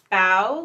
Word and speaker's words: Bao: Bao, like bow, not like bow. That's how they say to pronounce it.